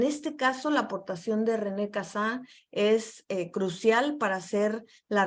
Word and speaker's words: René Cassin: René Cassin, su pronunciación en francés es René Cassin, él era un abogado francés.